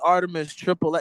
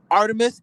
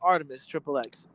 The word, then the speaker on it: ArtemiXXX: That's the THE Artemis ARTI. There's no S, XXX. So it's pronounced ArtemiXXX. A lot of people pronounce it Artemi, but it's ArtemiXXX or Artemix.